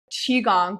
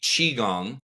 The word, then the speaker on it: qigong: know Lee yet he has been in a chiong world for over 30 years he has been